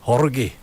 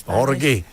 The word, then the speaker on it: Jorge: And sometimes you even have to pronounce names like you know the language. Like, for example, Jorge. Yes, Jorge.